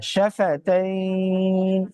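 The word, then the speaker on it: شفتين: হ্যাঁ, শাফাতাইন, দুই আলিফ টান।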